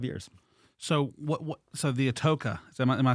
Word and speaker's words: Atocha: So the Atocha, am I saying that correctly? No. Okay, that's why I'm here. It's pronounced the Atocha. The Atocha? Atocha, yeah.